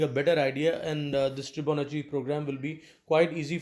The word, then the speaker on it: Tribonacci: video of fibonacci series yes you pronounce that as tribonachi and fibonacci series so